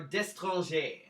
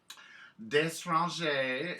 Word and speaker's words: DeStrange: Is it DeStrange, or DeStranger? DeStrange is the correct pronunciation.